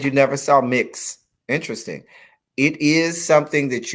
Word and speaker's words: Mx: would pronounce it as miss elijah instead of mix elijah and the actual pronunciation should be mix elijah if it's going to